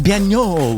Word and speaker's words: Banno: It's Banno. You fucking nailed it. Might be something like, fancy. I don't know. Banno.